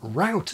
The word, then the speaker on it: route: Pronouncing root in the American way to rhyme with shout, the prince will have to watch where his accent ends up, with signs of it splashing into mid-Atlantic.